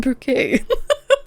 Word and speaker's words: Bucket: It's pronounced bouquet. Mrs.